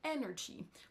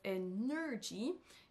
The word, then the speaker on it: energy: l'accentuation du mot Energy vous allez entendre qu'il prononce energy il accentue sur la deuxè syllabe alors c'est la première qui devrait accentué donc là vous avez entendu qu'il prononce Ener attention c'est pas comme ça que ça se prononce en anglais mais energy energy donc c'est la première syllabe qui va ressortir plus que les autres vous allez peut-être vous